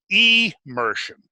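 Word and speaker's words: emersion: episodes of e Mershon now two words immersion immersion immersion to be immersed in the water but immersion means to come out of the water so the word is spelled e m ER SI o n not i am c immersion so he's saying there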